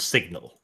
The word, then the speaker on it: sign: Yes, they had an official Wehrmacht newspaper called Signal. Anyone notice that when you say sign, you leave out the N, but when you say signature, you pronounce the G?